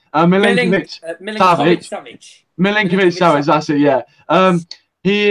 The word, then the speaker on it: Milinkovic-Savic: Milivojevic. Oh, I keep saying it wrong. Milinkovic-Savic.